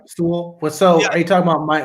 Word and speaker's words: Sewell: Did I say his name wrong? No, you're right. Sewell.